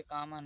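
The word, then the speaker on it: comb: जैसे यहाँ पर कॉम, यहाँ पर कॉम्ब नहीं पढ़ा जाएगा।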